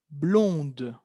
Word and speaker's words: blonde: Elle est blonde. Blonde. ¿Escuchan cómo la D aparece en femenino? Il est blond, elle est blonde.